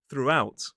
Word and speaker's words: throughout: this time we have throughout. Two syllables, stress on the second, throughout. So, it's the same pronunciation of through, and this time we have an out on the end, out, throughout. Now, I will say between